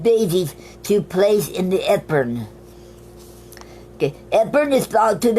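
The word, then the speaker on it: Epergne: Okay, and our word of the week is called Ephern. Ephern is spelled E-P-E-R-G-N-E.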